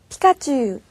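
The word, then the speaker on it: ピカチュウ: 달라요 잘 들어 보세요 먼저 어디에 왔을 때는요 피카츄 피카츄 피처럼 소리가 나죠 그리고 이렇게 어 중에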